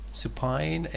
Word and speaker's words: supine: Supine, American, and Supine. supine, British. First syllable British, second syllable American.